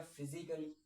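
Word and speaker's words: physically: तो आप देखेंगे इसमें भी हमारा ये साइलेंट है। ठीक है? फिर आ जाएगा फिजिकली।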